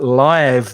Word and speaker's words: live: to play live now be careful of the pronunciation because when you see that word live e you might say live so live the verb you know but live the adjective is in director so you play